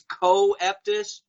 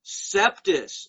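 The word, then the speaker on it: coeptis: as does anui septus which the masons always mispronounce on tv as co-eptis no masons bad masons bad it's septus as incept the sacred star annuit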